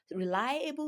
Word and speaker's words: reliable: So, reliable is stressed on the second syllable.